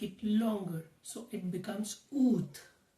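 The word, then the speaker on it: août: So August in French is ooth.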